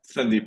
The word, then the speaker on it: Sandeep: Let me actually so we have a Slack group, by the way, I think Sandip, is it Sandip or how do I pronounce it? Sandeep is good.